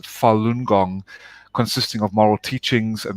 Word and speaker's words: Falun Gong: ancient spiritual movement called falun gong and it's pronounced falun gong consisting of moral teachings and meditation and four